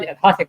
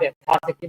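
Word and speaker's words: यथाशक्ति: Some South Indians pronounce it as Yathashakti. It's not Yathashakti, but Yathashakti Karishye.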